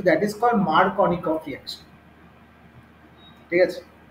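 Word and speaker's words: Markovnikov: হ্যাঁ, মার্কিনফ আলাদা, এটা মার্কনিকফ। মার্কিনফ তো কিছু নেই, জানি না কেমিস্ট্রিতে। মার্কিনফ কি আছে স্পেলিংটা? হ্যাঁ ওইটাই তো, তুমি যা স্পেলিং প্রোনাউন্সিয়েশন ভুল করছো। ওইটাই ওইটাই ওইটাই ওইটাই ওইটাই ওইটাই তুমি স্পেলিংটা তুমি প্রনাউন্সিয়েশন ভুল করছো, এটা মার্কনিকফই বলে।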